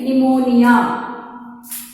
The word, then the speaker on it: pneumonia: You all know that the nobleman's son suffered from pneumonia. The spelling of pneumonia is P-N-E. Here P is going to be silent. We are going to pronounce it as a not pneumonia. It is pneumonia.